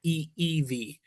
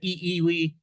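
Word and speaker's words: ʻiʻiwi: So the I gives a long E sound, then you stop, and then eevi. W is pronounced as a V in Hawaiian. Okay, if you said eewi, nobody would correct you, but it is correctly the eev.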